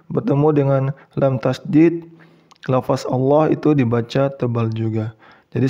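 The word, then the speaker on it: الله: Jadi untuk huruf alif ini diabaikan. Langsung masuk ke lam tasydid. Jadi bukan begini cara membacanya. Wallah. Bukan gitu ya.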